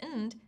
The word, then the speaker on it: and: Notice how we pronounce and as nd, a weak unstressed sound.